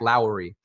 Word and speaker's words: Lowry: consulted about it and it is in fact Lowry Lowry should we set a group elusive smoke